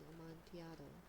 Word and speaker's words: Amontillado: And so I thought it was Amontillado. But then he said, but he's a Fortunato? It's Spanish. Okay. Well, then I'm going to pronounce it with the Y sound then, I guess.